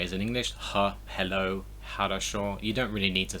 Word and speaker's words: хорошо: It's just important to remember it's a H sound. It's not an X.